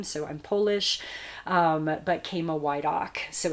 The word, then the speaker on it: Chama Woydak: a non-traditional name so i'm polish um but kama why doc so it's spelled c-h-a-m-a and my last name is w-o-y-d-a-k